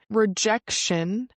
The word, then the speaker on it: rejection: Rejection can be redirection. And the pronunciation here is rejection. Rejection can be redirection. So the t i o n in English is like shun.